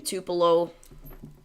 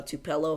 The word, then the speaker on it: Tupelo: that though so again Tupelo uh tupello however however you pronounce it I know in Mississippi they call it Tupelo but it's very different everywhere you go so tupello Tupelo whatever